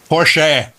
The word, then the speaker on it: Porsche: I met him said Porche Porche oh Porche it's Austrian and that's how they pronounce that final e it's sort of like